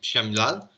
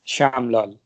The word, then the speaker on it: Shyaamlal: May I ask you how's your name pronounced? Shamlal? Yes, Shyamlal. Shamlal.